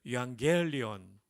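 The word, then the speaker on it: εὐαγγέλιον: 헬라어로는 뭐라고 말할까요 유앙겔리온이라고 합니다 한번 따라해 볼까요 유앙겔리온 여러분 거의 신대운 수준으로 발음해 주셔서 깊이 감사드립니다 유라는 말은 복되다 좋다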